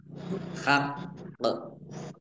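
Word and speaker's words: حق: Harus lima harakat bighhoiri haqq ini karena waqaf qofnya ini ada qof tasdid dan qof sukun berarti qofnya dibaca dogle Dua dan dipantulkan ya dibacanya Haq Haq jadi ditekan ya biar tampak dobel Q lam tanda wakaf boleh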